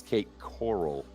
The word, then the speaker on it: Cape Coral: It's Cape Coral. It's not a corral pronounce it any reef.